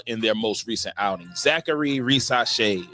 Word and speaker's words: Zaccharie Risacher: their most recent outing Zachary racee is how you say that name um in a draft